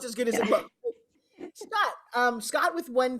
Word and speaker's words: Scott: Scott with one T, which I just think is so sexy. One of your favorite memories from shooting? Well, there's two T's. The one is silent, just to let you.